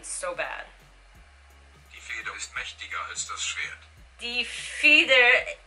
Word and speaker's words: mächtiger: Mächtiger. Mächtiger. Okay, so the T is kind of pronounced as a D, and the A with the two dots is pronounced as an E.